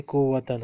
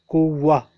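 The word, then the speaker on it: قوة: For example, here word is written kuwatan, but since we will stop here, we will not say kuwatan. We cannot say kuwatan. We will say kuwa, kuwa.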